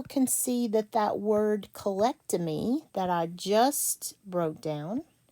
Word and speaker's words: colectomy: Me, colectomy. This is a 4-syllable word.